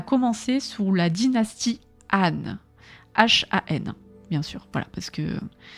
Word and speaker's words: Han: Je crois qu'il faut pas prononcer le H, il faut Han. Je crois que c'est comme ça que ça se dit.